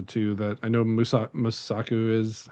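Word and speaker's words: Mosaku: Um, I think those are the two that I know Musa Musaku is how you say her name.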